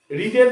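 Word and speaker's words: read: যদি বলে সিম্পল পাস্টে করতে একদম সোজা পুরোটা রিডের পাস্ট টেন্স কি রেড স্পেলিং একই শুধু প্রোনাউন্সিয়েশনটা আলাদা অর্পণ রেড story book in দি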